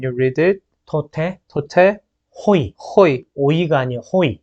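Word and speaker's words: οἱ: So when you read it, 토테, 토테, 호이. 호이. 오이가 아니에요. 호이. It is not oi, but it is with the high pronunciation.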